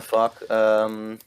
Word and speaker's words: vak: Fuck school sounds like you're saying fuck school, but fuck actually means like how do you say fuck? V-A-K. Fuck.